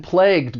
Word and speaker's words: plague: When it comes to pronunciation, the spelling and pronunciation don't really look like they match, but that final G-U-E, it's going to be pronounced with an aspirated G sound, plague.